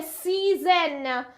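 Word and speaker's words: seasons: حالا اگه اسم بگیره مانسچ اوکی این شکلی تلفظ میشه فصل چی میشه سیزن سیزن اوکی این در واقع اس وسط ز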